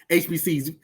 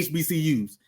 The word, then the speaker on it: HBCUs: what we talking about hbc's we don't say hbcs we say we say hbcus so Mr Know It